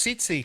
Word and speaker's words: Siti: know how I sitti it is pronounced sitti sitti fry sitti the first te is silent hello CFT my name